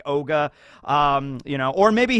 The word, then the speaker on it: Augur: stay on task van ogre as the subtitles said in that one episode because it's augur but it is pronounced kind of more like ogre um you know or